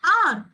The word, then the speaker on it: hour: Because the hour pronounce it should be pronounced as hour.